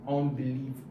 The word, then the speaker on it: unbelievable: I'm still dragging the stress from the third into the fourth, because the stress actually is on the fourth. It's dominant on the fourth. So unbelievable. So the stress is there on the fourth syllable.